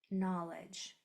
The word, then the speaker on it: knowledge: Knowledge. So as a review, spell the word knowledge in the chat, in the Q&A. Beautiful. Very good. So we have that K and silent letter pair.